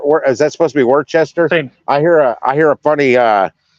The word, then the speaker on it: Worcester: And you're saying, is that supposed to be Worcester?